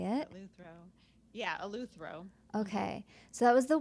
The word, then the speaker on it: eleuthero: so now I don't know if I'm even pronouncing it right, but it was eleuthero. Is that how you say it? Eleuthero. Yeah, eleuthero.